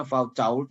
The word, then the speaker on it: Foucault: Tulisnya Foucault itu, tapi orang Prancis bacanya Foucault ya.